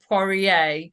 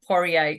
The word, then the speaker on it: Poirier: me on today so my sir name porier um porier it's a French for Petry U my husband's